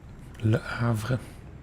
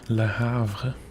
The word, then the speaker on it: Le Havre: Le Havre. I think that's the correct pronunciation. Not Le Havre.